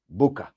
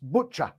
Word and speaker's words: Bucha: the false flag operation in booker b-u-c-h-a maybe it was chosen as the site of the false flag because many western people think it's pronounced butcher which is a bit like butcher and of course it